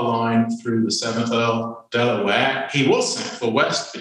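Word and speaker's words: De La Warr: If we take it from the family name, the pronunciation should be Delaware, although traditionally everyone in Bexhill pronounces it Delaware.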